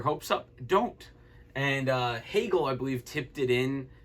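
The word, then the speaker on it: Hagel: up don't and uh hegel i believe tipped it in it looked like a ridiculous shot from debrinket at first but apparently got tipped in by a guy whose name rhymes with bagel so it's one nothing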